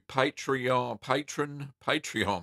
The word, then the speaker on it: Patreon: Also, there's a link to Patreon, that's the word, that's how you say it,